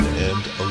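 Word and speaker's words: Alnwick: Several movies have been filmed here, including Harry Potter, Robin Hood, and Elizabeth. We have a few minutes left, so we explore the old town of Anic.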